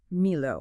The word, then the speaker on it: milo: And how are we pronouncing that? I want to get it right. It's Milo.